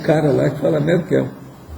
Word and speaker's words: Merkel: de Londres, a Merkel, eles não falam Merkel, não, é Merkel. Então, a Merkel. Eu não sei se essa dona, será que é alemão? A pronúncia que chama é Merkel? Já viu? Quer dizer que Merkel deve ser americano que fala. O alemão deve ser Merkel.